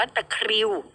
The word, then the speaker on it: ตะคริว: คะ เขา บอก ว่า ตะคริว สะกด ให้ รอ เรือ ด้วย นะ คะ มี ตัว ร เรือ ควบ กล้ำ เป็น อาการ หด เกร็ง